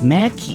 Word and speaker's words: McKay: He is I feel I'm saying Rem wrong cuz I feel he keeps saying it pronounce it K or K Mackey Macki. Oh, it's Mackie.